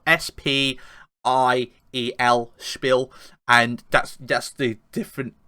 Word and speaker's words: Spiel: just getting out it doesn't google the name it's spelled s-p-i-e-l spill and that's that's the different the dictionary says